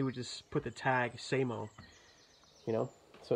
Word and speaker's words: SAMO: like when they pronounced it they would say Sam oh but it's actually pronounced say mo because he would explain that you would go